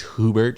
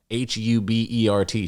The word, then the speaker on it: Hubert: it's not French it's hoobert Street or Uber how do you even pronounce that name h-u-b-e-r-t Street down there by the Holland Tunnel I think it's Hubert which is like a ridiculous name anyway yeah I run